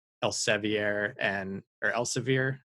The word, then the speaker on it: Elsevier: want to pay like el ceviere and or elsevier i think it's elsevier it's like pronounced how it shouldn't be and we definitely need